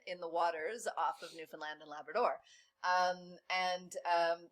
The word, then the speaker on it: Newfoundland: Okay, so let's bring it to Canada and to the Grand Banks off of the coast of Newfoundland and Labrador. You have to say it like that.